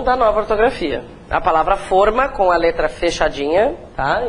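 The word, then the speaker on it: fôrma: Então, forma, mas cuidado porque é a pronúncia fechada, né?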